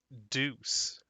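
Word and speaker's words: Douce: that'll work all right her name is pronounced deuce with a french accent that's so much better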